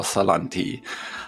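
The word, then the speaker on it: Salanti: am speaking with salon T hi how are you doing hi I'm doing well and thank you for pronouncing my name properly most people called me salon t saying so much and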